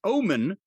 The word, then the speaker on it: Ohman: No, OHMAN. It's pronounced Omen, and that's a good omen. They're also some of the best-selling work boots that they have. That's right. That's a good omen.